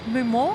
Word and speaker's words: Mumar: for Delta Airlines mumar have I pronounced your last name correctly yeah just like that M mumar where does